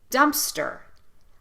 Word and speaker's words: dumpster: you to notice that we're using the uh sound in both syllables dumpster dumpster it's the same